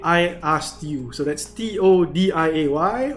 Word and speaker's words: TODIAY: So that's TODIAY, or I like to pronounce it as TODIAY. You know, like the show to die for.